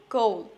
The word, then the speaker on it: goal: আমরা সাধারণত গোল বলি, উচ্চারণটা কিন্তু গোল। ও এর পর ছোট্ট করে একটা উ সাউন্ড আসবে, ও গো গোল।